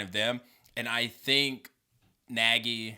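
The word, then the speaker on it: Nagy: them and i think naggy that's how you pronounce his name right yeah he he has that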